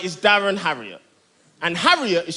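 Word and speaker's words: Harriott: I'm on now my name right is Darren heavier and heavier is spelled H a double r io TT it's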